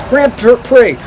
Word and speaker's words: Grand Prix: Okay, don't pronounce it wrong, else you'll get in trouble. Grand Prix.